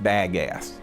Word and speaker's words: bagasse: That biomass that is left over is called bagasse. Now, if you want to be a local, it's pronounced bagasse.